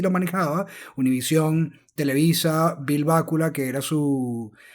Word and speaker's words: Bakula: manejaba, Univision, Televisa, Bill Bácula, que era su... o Bakula, como se pronuncia, el manager de él, hay de hecho un componente bastante oscuro.